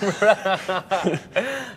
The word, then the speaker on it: Rene: Rene, is that the correct pronunciation?